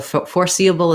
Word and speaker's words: foreseeable: We have the stress on the C syllable. So what I want is short on the first and the last syllables and longer on that C. The letters for, this is just like the word for, and we'll have a true or here.